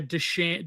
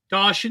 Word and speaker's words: dachshund: like an aardvark and a dog like a deschan deschan like walking How do you pronounce the dog? Like the wiener dog? What do you pronounce it? Dachshund Yeah, it's like a dachshund.